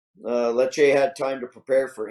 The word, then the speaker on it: Lecce: I saw that Lukaku got his first goal for Inter with their win over not pronounced Lecce. Lecce.